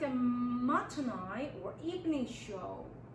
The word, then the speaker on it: matinee: 그 다음에 우리가 한국말로 쓰면 마티네 뭐 이렇게 얘기하지만 우리가 발음을 할 때는 matinee 하고 발음을 합니다.